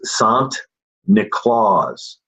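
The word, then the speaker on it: Sinterklaas: from the Dutch and the Dutch pronunciation of st. Nicholas is soft Nick Claus Santa Claus Santa Claus and the Dutch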